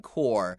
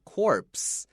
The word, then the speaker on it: Corps: OK，所以在这里海军陆战队 The Marine Corps 虽然它有 P 它有 S，但是这个 P 跟 S 这两个字都不要发出来，不像是这边我们讲 corpse，好 C-O-R-P-S-E P 跟 S 都要发音，可是如果你讲 Marine Corps，这个 Corps 它的拼法虽然是 C-O-R-P-S，但是 P-S 不要发音，只会念成 Marine Corps。